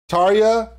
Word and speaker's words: Tarja: Her name starts with a T, rhymes with Arya. Yeah, all right, so here we go. Tarja, Marco, back together.